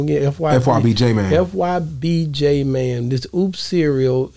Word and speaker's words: FYB J Mane: FYBJ man.